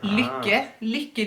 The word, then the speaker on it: lykke: They have very problem with this word, lykke needle. It's a Norwegian word, and since Robert speaks Norwegian all day and all night, all the time, he knows exactly how this is pronounced.